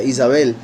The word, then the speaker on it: Jezabel: Recuerden que Jezabel, cuyo nombre en realidad se pronuncia Isabel, Isabel significa, una de